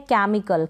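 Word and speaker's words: chemical: फिर ये है केमिकल, क्या है, केमिकल, यहाँ पर प्रोनाउंसिएशन आप देख लें, केमिकल का मतलब है रासायनिक, केमिकल, केमिकल ना पढ़ें, सी के बाद में एच साइलेंट है, ई को ए पढ़ा,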